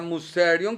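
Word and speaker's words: μυστήριον: del griego como muster que se pronuncia musion que significa cerrar la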